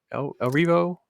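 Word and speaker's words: Erivo: Elphaba, the actress, is it Cynthia El Rivo?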